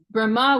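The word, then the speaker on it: Brahmā: It gets a little confusing because Brahma with a long A on the end is referring to Lord Brahma, the Deva, the demigod who's in charge of the engineering of the universe.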